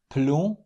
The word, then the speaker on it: plomb: And here are some examples of words where these consonants are silent. Plomb, blanc, clé, outil, cahier.